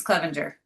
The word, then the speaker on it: Clevenger: I probably butchered it cuz I'm horrible at names. You're good. Tiffany Tombs, Clevenger. There we go. See, I knew I didn't say it right. I said Cleaver.